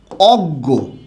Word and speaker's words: অজ্ঞ: গ চন্দ্রবিন্দু যেমন দেখুন আমি এরকম আপনাকে লিখলাম অজ্ঞ এই যে শব্দটা আছে অজ্ঞ শব্দটার উচ্চারণে কিন্তু জুক্ত ইয় টা শব্দের শেষে আছে